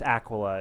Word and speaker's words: Aquila: my favorite Empires to study okay so yes Aquila is how you pronounce it unlike other provincial tournaments this is